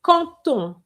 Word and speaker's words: quand on: It's con ton. Con ton. Do you know this rule? When you have a con with a D, yes? And you have on next to it, you need o. Well, I said on, but it could be any word beginning with a vowel. You will have the D changed into a T sound.